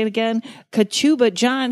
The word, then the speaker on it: Kachuba: Kachuba, John, how are you? I'm fine, Karen. Thank you. I love how you say your last name. Say it like a sneeze, Kachuba.